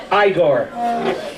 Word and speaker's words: Igor: No, it's pronounced Igor.